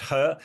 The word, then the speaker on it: He: Yeah, I mean, He He Lifeng, to give him his uh yeah, He is always a confusing surname in in in in Chinese, but it's pronounced He.